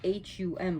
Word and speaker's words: hum: Okay, so her mantra, her main one that people use with her is H-U-M, but it's pronounced hum, hum, hum.